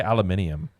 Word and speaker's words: aluminium: the aluminum aluminum alumin how did the British say aluminum they say it differently Alum aluminium I think Al aluminium I think they say aluminium which is a cooler